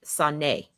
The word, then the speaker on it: Saulnier: Saulnier. Jeremy Saulnier. I guess that's how you say his name. I ain't trying to mess up. Oh wait, it's Sonnet. See? It must be French.